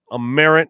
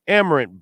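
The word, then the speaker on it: Amerant: of course black crows is opening up at aarant bank arena or amarant amarant Bank Arena is how it's pronounced also on October 20th that Friday the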